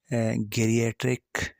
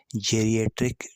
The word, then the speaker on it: geriatric: GDS की अगर हम प्रोनाउंसिएशन करें तो कुछ लोग इसको गेरियाट्रिक डिप्रेशन स्केल कहते हैं, कुछ लोग इसको जेरियाट्रिक डिप्रेशन स्केल कहते हैं। तो जो भी आपको सूटेबल लगता है आप इसको कह सकते हैं, ठीक है।